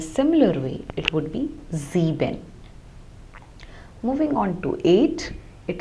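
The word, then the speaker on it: sieben: same way ZX so whenever the letter s occurs at the beginning of a German word like also in z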